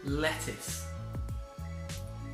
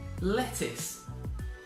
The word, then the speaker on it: lettuce: next word it is lettuce lettuce now if you have a look at the spelling it's got a U but we do not pronounce that U is not lettuce lettuce